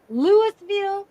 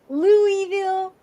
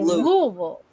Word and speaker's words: Louisville: I know everybody out there wants to say Lewisville, Louisville, but it you have to say it like you're swallowing a lot of tobacco. You say Louisville.